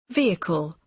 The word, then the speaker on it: vehicle: Vehicle. Vehicle. Vehicle. Vehicle. Nah, ada I nggak di situ? Ya kan? Vehicle, ya kan?